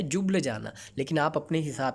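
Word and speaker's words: Ljubljana: और स्लोवेनिया की कैपिटल आपको याद रखनी है, इसकी प्रोनाउंसिएशन है जुब्लजाना। क्या है? जुब्लजाना।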